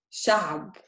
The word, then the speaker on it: شعب: Look at the difference is this. اثنين is شعب. See the difference? شاب, شعب.